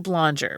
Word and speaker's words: Blonger: Lou Blonger. Rhymes, is a Wild West rhymes with conjure.